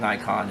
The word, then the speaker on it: Nikon: I know that but in America we call it Nikon and even the Nikon executives call it Nikon